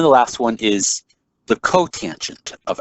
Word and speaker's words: cotangent: And the last one is COT, which means cotangent. And we pronounce this as cotangent.